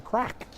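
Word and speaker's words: craic: It's pronounced crack in Irish. Crack, crack.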